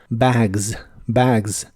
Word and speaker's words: bags: bolsas de un equipaje la a de bags se pronuncia con el sonido que es la combinación de e y a bags bags y usaremos la frase